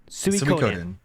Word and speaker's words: Suikoden: How is the name of that game pronounced? Suikoden. Okay, so I've got it as question marks on the list. Suikoden.